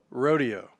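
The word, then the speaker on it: roadeo: And when I say rodeo, it's spelled R-O-A-D-E-O, rodeo.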